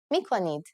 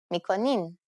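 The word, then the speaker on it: می‌کنید: If you want to sound more formal, you only need to change the verb mikoni to its plural form, mikonid, or its easier pronunciation, mikonin.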